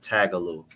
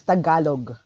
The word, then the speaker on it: Tagalog: best way to learn tagaloo I hope I pronounced that right okay in our language we don't use um long vowel sounds so that is that is Tagalog Tagalog again we don't